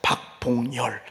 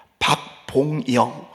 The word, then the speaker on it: 박봉열: 제 이름을 사람들이 발음을 할 때요, 제가 이응이 2개가 있어요. 박봉열 이렇게 발음하면 좋은데 처음 보는 사람은 꼭 이렇게 박봉영, 박봉열을요 열로 발음하고 이응 발음을 잘 못하더라고요.